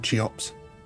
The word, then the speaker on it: Cheops: I'm just going to start calling you Chops from now on, Cheops, just for giggles. That's just be the funny way of pronouncing it.